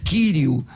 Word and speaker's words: Quírio: sabe que Quirio, o irmão Lucian Benigno, ele faz questão do acento no iota, no iota de Quirio, que é um genitivo singular masculino da segunda declinação, não é? Eu pronuncio que é Quírio.